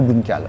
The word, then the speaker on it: Blomkål: je l'ai mal prononcé en plus parce que c'est norvégien. C'est norvégien, mais à la française on dit Bloomcal.